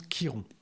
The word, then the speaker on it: Chiron: mais on le prononce Kiron. Le CH c'est un K dans cet usage là dans cette prononciation en tous les cas.